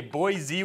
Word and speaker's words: Boise: not sure it's okay Boise with the Z all right I'll stay